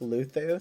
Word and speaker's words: Luzu: In that giving Luzu is pronounced Luthu.